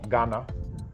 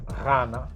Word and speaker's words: Ghana: So it's not a G sound either. People in the country called Ghana, they actually can't even pronounce it right, but the GH is a R sound, R. And if you go to places where they have that in the language, they'll actually pronounce it correctly.